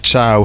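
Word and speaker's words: Thiaw: Allan from Heartleyool wants to know why we call Malik Chow. Malik Chow because that's his name even though it's spelled T H I A W.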